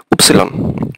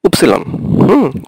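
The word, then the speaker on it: Ypsilon: আর ওয়াই, ওয়াই, ওয়াইকে আমরা ইংলিশে বলি ওয়াই, কিন্তু ওরা বলবে হচ্ছে উপসিলন। আপনি জার্মান ভাষায় যখন ওয়াই উচ্চারণ করবেন তখন এটাকে বলতে হবে উপসিলন, উপসিলন।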